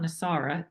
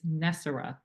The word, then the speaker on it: NESARA: as you have tell told me the correct pronunciation is not nisara it's nessar and I know nessar has been a folklore